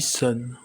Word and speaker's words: Sonne: avec un U mais en allemand il se dit sonne ils ont doublé le